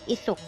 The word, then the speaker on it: Aesop: Aesop. A-E-S-O-P. Aesop. A-E-S-O-P. Aesop. Now you understood the pronunciation of that word?